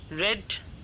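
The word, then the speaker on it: read: आई रेड the newspaper, यहाँ पर रेड क्यों, रीड नहीं किया, क्योंकि पास्ट टेंस में स्पेलिंग तो सेम रहता है लेकिन प्रोनाउंसिएशन डिफरेंट हो जाता है।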